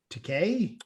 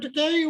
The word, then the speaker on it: Takei: my brother, one of the speakers was George Takei. Oh yeah, I believe is the correct pronunciation.